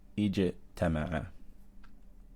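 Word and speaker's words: اجتمع: to look at mim, and we see that mim has fath on it, therefore we're going to pronounce this hamza with kasra. Ijtama'a.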